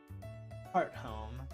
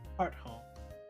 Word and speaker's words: Hearthome: Hearthome. That's how it's pronounced. Okay, it's been a while. Hearthome.